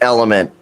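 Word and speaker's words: LMNT: I will say this element stuff is pretty freaking glorious. I love I love this product. What is it? Uh it's called it's called Element. It's spelled L M N T.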